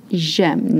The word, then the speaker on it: j'aime: You're going to make j'aime. J'aime, not j'aime, not j'aime, j'aime. One sound, j'aime.